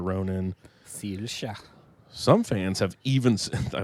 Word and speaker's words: Saoirse: And for Zelda, Anya Taylor-Joy, Elle Fanning, Saoirse Ronan. Sirsha.